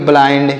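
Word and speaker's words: blind: आई हो रहा है आई का उच्चारण आई जैसे काइंड फाइंड माइंड बाइंड्स याद रखेंगे आगे बढ़ते हैं और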